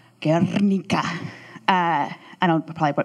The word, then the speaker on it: Guernica: Anyway, it's got Picasso's Guernica, or I was told to pronounce it really well, Guernica.